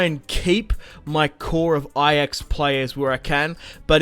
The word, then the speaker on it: Ajax: how Ajax is spelled, I'd probably say Ajax as an Australian, but obviously it's Ajax.